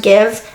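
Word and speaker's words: GXVE: is Gwen Stefan's brand I think it's pronounced give everybody always has this to baby because it looks like an X looks like gxv I don't even know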